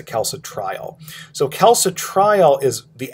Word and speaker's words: calcitriol: with another hormone called calcitriol or kalsa trial i usually pronounce a calso trial so kalsa trial is